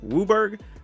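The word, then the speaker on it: WUBRG: black red green and if you ever hear us say something like wuburg that's basically the phonetic pronunciation of all of these just blue gets assigned with the letter U So when you say them phonetically they look like wubert or at least sound like it anyway just wanted that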